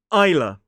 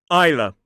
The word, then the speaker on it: Isla: This one looks like Isla, but it is Isla. Isla, so it's I, like the thing we see with, I. The S is silent, L-A. Isla.